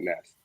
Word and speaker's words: NST: And I want to say real quick, I know it's weird, it's alien writing, but it's pronounced Planet Nest.